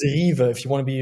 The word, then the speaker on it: KYVE: there can you please can you please correct it just so that the audience it's Eva if you want to